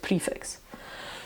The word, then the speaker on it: prefix: Now, preface is absolutely pronounced preface, but prefix, it would seem, is definitely pronounced prefix.